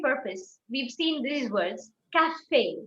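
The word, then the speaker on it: café: a tool of pronunciation whenever you see an e with a song you have to pronounce it you give a a sound so it is not it is cafe it is saute it is not salt caspe fiance we don't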